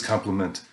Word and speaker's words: complement: looks nice today that's compliment with an eye and that's a different word it's pronounced the same but it's a different word this is complement as in you complete me anyway what i want to